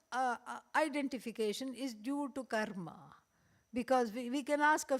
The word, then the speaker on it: karma: is because there is a vast order called karma and yeah it is it is pronounced Karma okay not karma karma is when you have